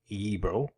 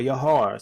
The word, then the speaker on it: Yibir: The name Yibir, also pronounced Yibro or Yahar, simply means Hebrews.